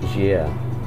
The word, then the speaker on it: Gaia: itself it's spelt gaia um but it's actually pronounced jeer so don't be afraid to try and pronounce